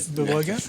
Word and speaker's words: Bawoga: Well done, and thank you to Brian Bawoga. I think I pronounced that right. Is that right, Bawoga? Yes.